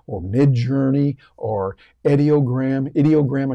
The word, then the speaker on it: Ideogram: mid Journey or edog idiogram I should say that's the way you pronounce it I looked it up idiogram and many others